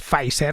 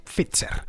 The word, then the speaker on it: Pfizer: No, a ver, Pfizer es un apellido alemán y como tal pues tenemos que al menos aproximar la pronunciación al original.